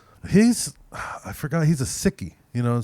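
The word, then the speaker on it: Sikh: pronounce it well I I heard that it's actually sick but people say Seek because it's less so it doesn't sound like sick they believe that they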